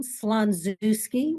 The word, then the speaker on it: Slonczewski: Well, my name is Joan Slanzooski. We pronounce it with a zoo in it.